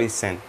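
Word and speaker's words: 千: यहाँ पर दो प्रोनाउंसिएशन है इसके, सेन और इसेन। इसेन आपको नहीं बोलना, कुछ केसेस में इसेन बोल सकते हैं बट ज़्यादातर आपको सेन ही बोलना है।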